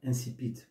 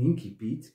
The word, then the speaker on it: incipit: C'est un mot d'origine latine qui peut être prononcé de deux manières, incipit ou incipit, qui veut dire le commencement d'un roman, d'une nouvelle ou d'un conte.